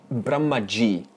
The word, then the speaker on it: Brahma: Now, Brahma Loka is the home of Brahmaji. Now, Brahmaji is not Brahman, because Brahma, that's a long A at the end.